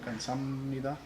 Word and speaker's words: 감사합니다: Yeah, well, but nugu sometimes pronounced like dugu, and so, or 감사합니다 is actually a b sound in there. 감사합니다.